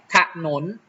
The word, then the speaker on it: ถนน: นนท์ นะ ครับ ถนน ถ้า หนู ไม่ อ่าน ออก เสียง อาหอ หีบ นะ ครับ มัน จะ เป็น ถนน นะ ครับ มัน ไม่ มี เสียง หอน ำ มัน จะ เป็น ถนน ทัน ที นะ ครับ มัน ไม่ ใช่ ถนน นะ ครับ ขนุน และ